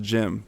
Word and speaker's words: Cem: couple of my teammates was spelled CEM but it's pronounced Jim you know saying so